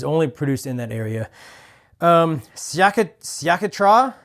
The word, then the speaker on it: Sciacchetrà: Sciacchetrà. It's spelled Sciacchetra, and then a little emphasis over the A at the end there.